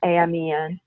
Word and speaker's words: Amen: Daniel Amen it spelled like prayer amen I am Ian who's a functional psychiatrist